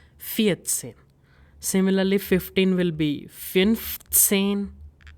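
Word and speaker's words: fünfzehn: Similarly 15 will be finane finene 18 will be oxen oxen number 19 will be nine.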